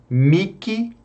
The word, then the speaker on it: mihi: Bom, o H, meus caros, o H é mudo, exceto nas palavras mihi e nihil. E veja, mihi e nihil também nós podemos pronunciar como um K. Então, miki ou níquel, ok?